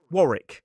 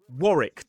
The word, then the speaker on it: Warwick: Next up, we have Warick. It looks like Warwick, but it is Warick. two syllables, stress on the first. Warrick.